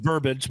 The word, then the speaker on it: verbiage: I think it's pronounced verbiage, but I get it.